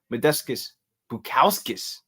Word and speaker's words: Modestas Bukauskas: Victor Petrino versus UFC returning man Modestas Bukauskas.